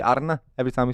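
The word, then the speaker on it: Arne: you pronounce his name English people would say Anna yeah but he would say ARA it is Arna yeah yeah it is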